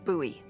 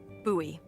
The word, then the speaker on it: Bowie: no warning he pulls out this huge Rusty Bowie knife it's actually pronounced buoy what no it's like the last name like David Bowie different last name buoy are you just messing with me no that's